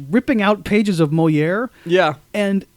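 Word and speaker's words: Molière: And when he, when Bender like mispronounces the name, this Mole really blows my mind. And like Claire goes, Moliere.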